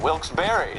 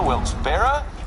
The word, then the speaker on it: Wilkes-Barre: Bray Pennsylvania maybe they're just low-key about it wilkes-barre that's a third pronunciation that we have found for this we believe to be a great town in Pennsylvania wilkes-barre wilkes-barre rahrr wilkes-barre do you like fruit anyway you